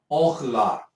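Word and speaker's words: אָכְלָה: A pronúncia é orla. Orla. Essa é a pronúncia, que significa alimento.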